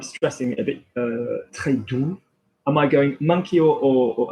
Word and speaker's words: doux: If I went with do, I mean, I'm stressing it a bit, très doux. Am I going monkey or am I going lady or monkey? I'm going monkey.